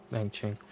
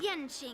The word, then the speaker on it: Yan Qing: Yang Ching. Well, I always mispronounce the really Q's because graduation.